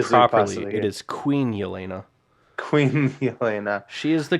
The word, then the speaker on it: Yelena: It is Queen Elena.